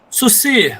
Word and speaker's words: Saussure: Freud, do Marx, como é que é a pronúncia em francês, Vinícius, mesmo? Saussure. Saussure, muito bem, que o professor, de maneira muito livre, chama de Saussure.